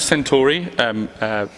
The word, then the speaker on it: Centauri: Yes, because so we're talking about, I think we pronounce it Centauri Perfumes, as in Alpha Centauri, as in the star.